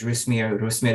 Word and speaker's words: Rusmir: didn't catch my name my name is rusmir if you can roll your RS I was born and